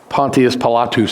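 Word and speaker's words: Pontius Pilatus: talk about Pontius pilot Pontius palatus that's how it's pronounced in Latin uh this this picture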